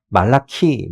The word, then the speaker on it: 말라키: 원래 이제 발음으로 하면 말라키 이렇게 이제 되는 건데 그거를 이제 우리말로 옮기다 보니까 이제 이렇게 된 거죠.